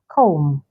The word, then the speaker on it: comb: com com o m so the B is silent comb then we have plumber